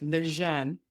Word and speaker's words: Lejeune: Because it um and I've been saying it wrong for years, so it's lean. I'd be thinking Leanne named after Jerome Leanne